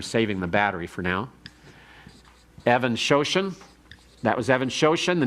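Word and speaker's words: Even-Shoshan: Evan Shoshan is spelled like even, E-V-E-N hyphen S-H-O-S-H-A-N.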